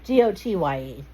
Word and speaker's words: Gotye: I believe it's Gotai. Gotai? Goyte? Gotye. Gotye.